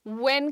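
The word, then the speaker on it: when: सो वैन नहीं, व्हेन, gentle रखेंगे, short stretch देंगे, ठीक है।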